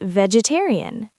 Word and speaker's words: vegetarian: Next is vegetarian. Ve jed terri five syllables stress on the third dessert.